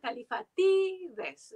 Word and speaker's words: Kallifatides: digamos no pero bueno en griego moderno el acento va califa tiddes digamos yo no se